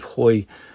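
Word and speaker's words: Hauy: the Highlight for us was actually seeing Cape Hoy from the water level and looking up to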